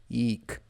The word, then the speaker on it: iik: Wind eek means air or wind. Eek. It's kind of the sound in Maya. It's an elongated eek. It's not eek.